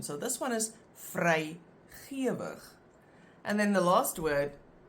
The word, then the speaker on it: vrygewig: In that case, that first part is pronounced ge. But in this case, the word looks the same, the second part, but it's pronounced gewig. Again, there's no rule. You just have to learn the pronunciation.